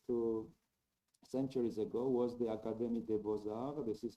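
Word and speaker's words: Académie des Beaux-Arts: starting from almost to centuries ago was the academy de bozar this is how it is pronounced or the academy of fine arts in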